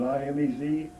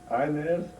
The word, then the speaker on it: Inez: Her name was I-N-E-Z, Inez, as the way the mother wanted us to pronounce it.